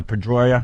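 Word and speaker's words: Pedroia: Dustin uh Pedroya.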